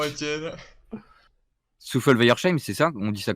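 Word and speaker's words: Souffelweyersheim: Souffle Weiersheim, c'est ça? On dit ça comme ça, hein? Weiersheim. Le H, il se prononce pas.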